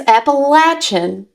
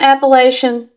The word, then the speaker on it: Appalachian: with my uh lovely North Carolina accent or Appalachin accent. And one note, it is Appalachin because of the Appalache tribe that lived there. So, just FYI, if you've been calling it Appalachian, you're wrong.